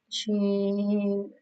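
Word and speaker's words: شين: Sheen, Khada Zabar Shah, middle part of the tongue touching the middle part of the palate like she, and spread your voice like she.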